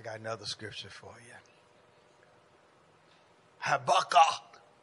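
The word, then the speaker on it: Habakkuk: another scripture for you Haba you got to pronounce it like that two and two y'all say habac but it's all kind of way just say Hab habby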